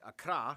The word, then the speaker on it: Accra: Ho, and Tamale, and of course the capital, Accra, yes, that's how you pronounce it, Accra, located in the southeast along the coast.